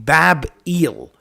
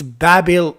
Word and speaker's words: Babel: eel that's it it's it's the same name bab eel so e is the god of Babylon so it it's Babel it's Babel Babel but it's it's eill